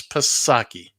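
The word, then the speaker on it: Psaki: gen saki swats down yet another pasaki it's pasaki it is not it is pasaki that's how it's spelled but that isn't how she pronounced it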